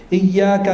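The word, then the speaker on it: إياك: Iyyaka na'budu, iyyaka ditekankan, kalau tidak ditajdid syaddah tidak ditekankan artinya berubah. Iyyaka na'budu wa iyyaka nasta'in artinya hanya kepadamu kami menyembah dan hanya kepadamu kami mohon pertolongan.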